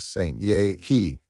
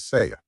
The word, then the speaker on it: Seiya: Dio and her husband, Saint He. That's not their names." Aqua pipped up, coming to stand by Izuku. "You're mispronouncing them. She's Sakido, and he's Seiya."